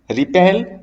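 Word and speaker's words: wrap: ध्यान दीजिएगा बेटा यहाँ पे जो W है वो साइलेंट रहा करता है।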